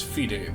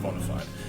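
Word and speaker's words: bona fide: here is a bonafid now people are pronouncing this fide these days but i always pronounced it bonafide so we're going to go with bonafide modified dead spot dead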